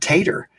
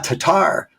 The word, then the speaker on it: Tatar: My real name is Tatar, but I always pronounced it Tater. And he's registering a blank. And then I wrote it and he goes, Tatar.